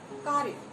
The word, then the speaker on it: कार्य: कार्य, क में आ का स्वर सुनाई पड़ता है, र में किसी प्रकार के स्वर का उच्चारण नहीं हुआ।